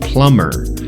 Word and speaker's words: plumber: I use the term plumber service workers a plumber p l u m b r the B is silent plumber a plumber is somebody